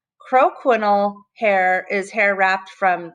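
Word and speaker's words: croquignole: about roughing techniques so the way you pronounce this word is crow panel crow quinol hair is hair wrapped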